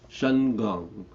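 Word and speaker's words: Shengong: don't really know that word can can you spell it uh s h e n g o n g oh okay Shan gong okay um Shan means Spirit yeah and I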